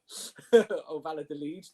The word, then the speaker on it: Valladolid: Or Valladolid, if you want to say it correctly.